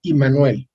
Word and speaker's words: Immanuel: por qué le llamaron, se pronuncia Immanuel, pero ya traducido al castellano es Emanuel.